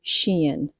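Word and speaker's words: Shein: stores and I just looked up how to pronounce this but it says Shen s he i n we've called it Shane Sheen Shen they are fast fashion and this feels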